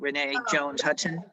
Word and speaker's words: Renee Jones Hudson: on mute renee uh am i pronouncing your name right renee jones hudson yeah um i i realized